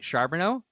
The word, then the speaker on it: Charboneau: the fastest crustation I have a hard time pronouncing words but I think I got your last name right sharbono you nailed it yeah yeah yes yeah nailed